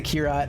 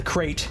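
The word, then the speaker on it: Krait: I did want to get the Kira MK2, actually, the crate MK2. I was told that that is how it's pronounced.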